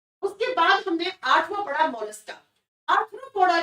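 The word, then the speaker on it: Mollusca: और मैंने कहा था मोलस्का को ऐसे प्रोनाउंस करो, मोलस्का, एकदम सॉफ्टली, क्योंकि इनका शरीर बहुत सॉफ्ट होता है, बहुत मुलायम होता है।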